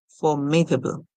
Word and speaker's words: formidable: So we see the parts of the word form, id, ab, and lo. Formidable. Formidable. Or we can put it by saying form, id, and able.